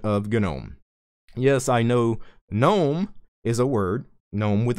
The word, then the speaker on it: GNOME: The GNOME devs originally wanted GNOME pronounced GNOME because the G in GNOME stands for GNU.